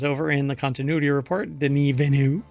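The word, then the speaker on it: Denis Villeneuve: there's an entire phrase here that's missing director Den venu that is apparently you pronounce his name or he pronounces his name or you're supposed to pronounce his name not Dennis Villano denu um believes Blade Runner 2049 could have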